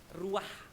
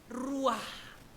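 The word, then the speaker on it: רוח: aja ya ruahesoh ituu ruah ya bacanya harus mulutnya dibuka yang lebar ruah gitu Bapak Ibu Bapak ya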